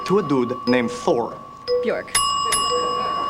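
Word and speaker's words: Björk: Bjork. It rhymes with dork.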